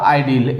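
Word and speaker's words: ideal: सिर्फ स्पेलिंग का फर्क है, ठीक है, लेकिन हम चाहे तो इसको उसके उच्चारण में फर्क करके भी पहचान सकते हैं। जैसे इसका होता है आइडल और इसका आइडियल, ऐसे कह सकते हैं पहचानने की दृष्टि से, ठीक है।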